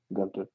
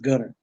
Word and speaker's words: Gunter: Gunter. We're gonna use that East Texas and then pronounce the T. It's just Gunner.